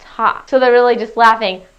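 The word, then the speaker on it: ห้า: lot because in thai the number five is pronounced ha so they're really just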